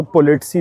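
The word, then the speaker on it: politsei: साथ में यहाँ पे पुलिस को पोलिटसी बोलते हैं भाई, पोलिटसी, क्योंकि हर कंट्री में अलग प्रोनाउंसिएशन होती है।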